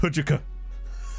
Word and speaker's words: HJK: HJK is pronounced Hujuka.